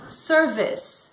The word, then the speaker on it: service: Agora o outro é service. Service. Todo ER em inglês, principalmente no sotaque americano, ele é mais fechadinho, né? Sir. E lembra que eu falei antes? O CE, eu pronuncio S.